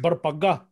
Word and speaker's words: Barpaga: Is it it's actually, it's pronounced Barpaga. I'm not going to say that. I say Barpaga.